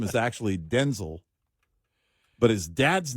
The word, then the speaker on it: Denzel: uh Denzel Washington, who by the way in a recent interview let everybody know we're saying his name wrong. I saw that his name is actually Denel, but his dad's name was Denel.